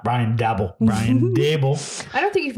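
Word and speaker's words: Brian Daboll: brian dable got it brian not ryan dabble brian dable i don't think you've mispronounced one name so far um i think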